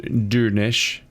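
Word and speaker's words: Durnisc: Durnisk is pronounced Durnish, since the final SC cluster sounds like an SH sound.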